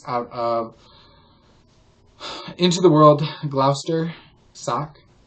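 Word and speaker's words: Gloucester: Glouster sock.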